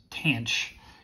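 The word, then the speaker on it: tanh: the hyperbolic tangent function which i'm going to pronounce tanch is equal to cinch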